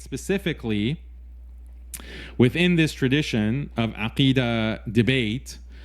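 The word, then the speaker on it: عقيدة: If you cannot say aqidah, don't speak. Don't come around saying akida.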